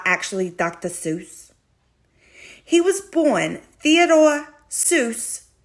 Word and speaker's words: Seuss: Seuss? He was born Theodore Seuss Geisel, Geisel. But Seuss, as everyone says it, is pronounced Seuss, like voice.